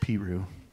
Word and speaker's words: Peru: the time in East Peru Iowa it's spelled like Peru but it's pronounced Piru and I gave him